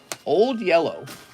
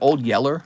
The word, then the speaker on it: Old Yeller: how to say it old yellow is it Old Yeller I think it's like Yeller that's how they said it because they had that southern accent Mister how was your